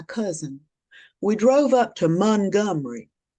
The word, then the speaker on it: Montgomery: we drove up to Montgomery. It's spelled Montgomery, but if you live there, it's Montgomery.